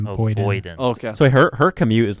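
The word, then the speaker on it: Boyden: How do you say that? So that's like a 20 minute drive. It's B O Y D E N. Bon.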